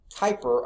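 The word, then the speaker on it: Kuiper: the person listed here Gerard Peter Kyper I think is how you pronounce that he was born in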